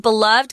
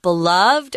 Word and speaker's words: beloved: This word beloved can be either pronounced beloved or beloved.